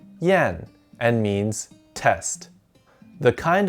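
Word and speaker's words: 验: gathered together to test out a horse it's pronounced yen and means test the kind of testing you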